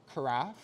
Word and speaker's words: carafe: Before we do that, I'm just gonna hook up the carafe, which rhymes with giraffe, can't forget that.